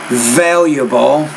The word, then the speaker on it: valuable: You say valuable, you need to pronounce that V with a little bit more vibration, so valuable.